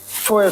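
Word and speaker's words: Tora: And you may have seen the film Toya, Toya, Toya. That's how it's pronounced in Japanese.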